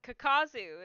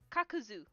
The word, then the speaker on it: Kakuzu: oh like oh that's not how that's awesome kakazu is the way that I pronounce his name but it's actually kakuzu yeah you gotta think about it like from